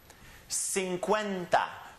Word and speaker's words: cincuenta: the next one is cincuenta the syllables are sing Quinn da cincuenta Rida porfavor cincuenta again